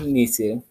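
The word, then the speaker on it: nisse: old days also believed inisis pronounced nisi the chives elves who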